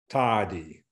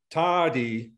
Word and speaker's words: tādi: So compare here the two words, kas, tadi, kas, tadi. So if you hear tadi, it's a longer vowel, and also it is, it's a stronger vowel than kas.